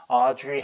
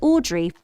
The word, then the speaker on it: Audrey: 자, Audrey Hepburn인가? 그런 액트레스 있죠. Audrey 이 미국식 발음이고 영국 사람 어떻게 발음했어요? Now I'd like to turn things over to Audrey. Audrey 그죠? 기대치가 다 왔습니다.